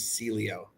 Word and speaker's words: Celio: SE celo or Celio okay so my name is Italian if you were Italian it would be pronounced J but because my great-grandmother came to the US when they were uh doing stuff it got Americanized and it's Celio thank you okay uh